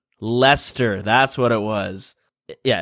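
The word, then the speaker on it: Leicester: A weird pronunciation that us Canadian folk don't know how to say properly. Lester. Lester.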